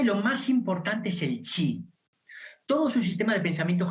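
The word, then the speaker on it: qi: es en sí el chip en con la transición que usamos actualmente el pinyin se escribe con q pero la apropiación es es coche es el chip que es el chip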